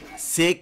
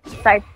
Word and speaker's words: scythe: SIG kit? Is that how you say it? Yep. SIG. Kit. Scythe kit.